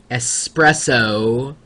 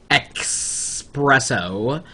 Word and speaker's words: espresso: me go off on people who pronounce espresso as if there was an X in the word and we all know there's no such thing as expresso well uh apparently Mitch